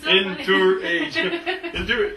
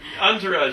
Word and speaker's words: entourage: there you go yeah sometimes I pronounced words like phonetically inter age Entourage you got the Sun the